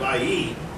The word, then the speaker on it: Ai: Capital A, small I, pronounced Ai.